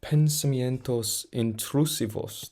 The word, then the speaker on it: pensamientos intrusivos: harmonies closing out the track oh my God pensamientos intrusivos that's what I'm going to say that's I'm going to say how it pronounce how you pronounce it before I was